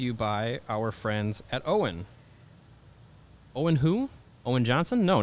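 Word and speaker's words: Owyn: No, this Owen is spelled O-W-Y-N, and it stands for only what you need.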